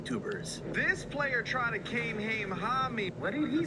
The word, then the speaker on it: Kamehameha: can't believe people are getting it wrong. It's a Kamehameha. Watch the anime if you want to say it right.